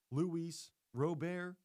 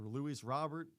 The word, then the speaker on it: Luis Robert: They also acquired Luis Rober or Luis Robert. It's a little debate on how they pronounce the name. Is it Luis Robert or Luis Rober? I hear it both ways.